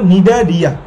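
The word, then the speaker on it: Cnidaria: Porifera, তারপর নিডা রিয়া। এখন বলতে পারো ভাই এখানে তো আগে সি আছে, সি এর উচ্চারণ হয় না এই জায়গায়।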